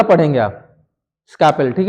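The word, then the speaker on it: scalpel: इसलिए किया जाता नॉर्मली इसको बीपी हैंडल या स्कार्पेल या नाइफ हैंडल बोलते हैं। ठीक है ना? नॉर्मली हम लोग स्कार्पेल बोलते हैं। इसमें ना एल जो है साइलेंट है। तो बिना एरल का पढ़ेंगे आप स्कैपेल।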